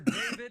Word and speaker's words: D4VD: Singer and producer David, and it's spelled D4VD.